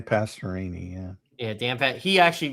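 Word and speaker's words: Pastorini: Is it Passerini or Passeroni? I always forget how to say his last name too. The Oilers quarterback. Yeah, Dan Passerini.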